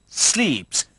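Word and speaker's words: slips: टाई को कहते हैं स्लीप्स। स्लीप्स ऐसे ही प्रोनाउंस करते हैं।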